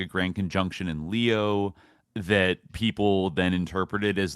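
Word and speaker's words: Lyke: I don't know how to pronounce his name, but it's L Y K E Le or Lea Lea.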